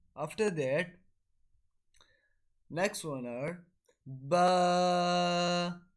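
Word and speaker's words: ب: And the letter ba is pronounced from the wet portion of the lips, which is on the inside of a little bit closer to the inside of our mouth, like ba.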